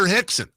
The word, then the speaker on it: Rickson: the whole thing was Royce Gracie's older brother, Rickson, who was the best of the bunch, who was huge. Not huge, but go look at a picture of Rickson Gracie back in the day.